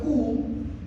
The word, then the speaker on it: cou: Si usted le dice a una persona, touche-moi le cou, si vous prononcez mal, ça c'est drôle.